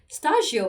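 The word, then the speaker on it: スタジオ: This studio, Stagio, by the way, is studio, okay, in Japanese. It's the way that the Japanese pronounce studio.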